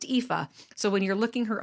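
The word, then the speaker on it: Aoife: o i f e so it's it's it's pronounced epha so when you're looking her up online you're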